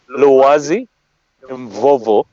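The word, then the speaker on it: Lwazi Mvovo: Look, just okay, pronounce it for me, please. We're rolling with it. Loazi Mvovo.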